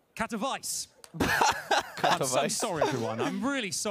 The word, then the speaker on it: Katowice: What is the correct pronunciation? Katowice. Katowice.